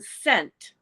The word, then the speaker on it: scent: this one's way worse which letter in Scent is the silent letter it would be the ey wouldn't it sent f c n t scent like smell Oh I thought okay